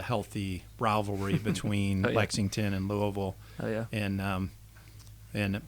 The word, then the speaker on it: Louisville: in B and raised Louisville Louisville Louisville Louisville yeah they sell shirts that say say it like you're drunk on Bourbon so it's lville yeah kind of blur it all together so we've talked about